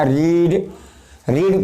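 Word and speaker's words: read: अब हमारा main verb का थर्ड फॉर्म हो जाएगा रीड का तीसरी अवस्था क्या होगा, रेड। स्पेलिंग वही रहता है लेकिन उच्चारण में परिवर्तन हो जाता है, रीड रेड।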